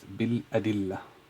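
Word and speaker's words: بالأدلة: So it's pronounced bil adillah. So it is bi, I'll make a cut here, bi and al-adillah.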